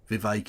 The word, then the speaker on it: Vivek: Vivek, it rhymes with cake, Ramaswami.